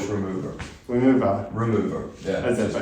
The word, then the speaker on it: Яmvr: since we're in this together, the band is called Remover, like nail polish remover.